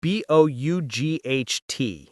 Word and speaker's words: bought: It is spelled B O U G H T. It sounds like bought.